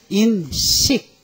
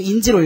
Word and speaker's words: 인식: 요렇게 읽으면 뭐예요 표지 근데 이렇게 읽으면 뭐예요 인식 근데 학생들이 자꾸 인지로 읽어요 왜 인지라 말도 있거든 그죠 근데인지는 한자가 달라요인지 능력 이러죠 요거는 인식이고 인식 인지가 들으면 여기에다가 알지자 넣어야 돼요 이렇게 하면 인지예 아셨죠 무엇을 인지하다 에다가 뭐요 알다를서 이게 인지야 그러니 요거는 지라고 읽지 말고 어떻게 읽어라 인식 요거는 표지 겉장 표지